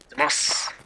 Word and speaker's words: Deimos: Deimos like, and Razor with me. Like, Demacia, but without all the extra stuff.